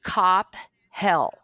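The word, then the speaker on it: Coppell: Now you're based in Coppel, Texas, Brian. Where were you when you were based out there? Oh, I said it wrong. You know, think of Cop Hell.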